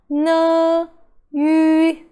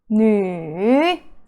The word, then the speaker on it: 女: With a U, two dots on top, U with two dots on top, it is actually U sound. So, U, so, N, U, Nu. It's the third tone.